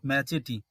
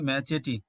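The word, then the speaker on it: machete: এর উচ্চারণ কিন্তু আলাদা এই কয়েকটি ওয়ার্ডই রয়েছে এমন যাদের উচ্চারণগুলো একটু আলাদা এই উচ্চারণটি হচ্ছে ম্যাচেটি মানে বড় ছুরি এখানে ম্যাচেটি এই উচ্চারণ এরপরেরটি দেখো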